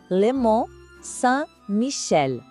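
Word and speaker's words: Le Mont-Saint-Michel: Vamos de novo, com cuidado na pronúncia. Lemon San Michel é uma abadia que parece desafiar a gravidade às maréis, sabe?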